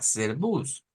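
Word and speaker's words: Servus: como hacer una e como decir ser con r e ser serbs entonces diríamos acá serbus sería una forma de pronunciar pero ya escuchamos que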